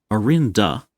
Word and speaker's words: Orinda: Oh, I'm mispronouncing it. It's Orinda, the angel, and Orindia, the domain. Rinda Ares, the sub-kingdom. Okay. So the realm is named after the angel with no IA.